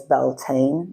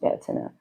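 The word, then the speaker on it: Bealtaine: night um fire festival um commonly known as Belain but it's pronounced Bina in Gelik so we would like to get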